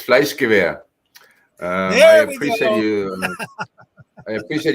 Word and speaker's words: FleischgewehR: It's FleischgewehR.